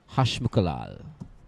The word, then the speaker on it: Hashmukhalal: Ricky, I'm sure that name is pronounced Hashmukhalal.